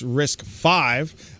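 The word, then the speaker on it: RISC-V: here it says uh risk V pronounced risk five is an open standard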